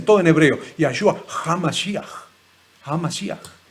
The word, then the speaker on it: HaMashiach: HaMashiach. Lo pronuncian mal, porque dicen HaMashiach. Y no se dice Ha, porque la palabra He, no es J. No existe la J en hebreo. No existe.